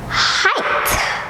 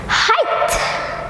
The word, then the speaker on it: height: you pronounce it its height height height so usually G and it we don't pronounce it it's a silent letter we cut it out so for example because